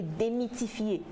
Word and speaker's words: démythifier: C'est qu'on parle de démystifier et démythifier. Démystifier et démythifier. Déjà, en fait, ça s'écrit vraiment différemment.